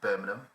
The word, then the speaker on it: Birmingham: Our producer will let us know, but it is a local mosque in Birmingham, and that's how you pronounce it, Birmingham.